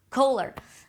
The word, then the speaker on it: Kohler: farm sinks, and I don't know how to pronounce the brand. Do you know the brand, Renee? Kohler.